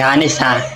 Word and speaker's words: honest: Be honest, be honest, hanes ha hindi yan honest. Honest ha. Silent H.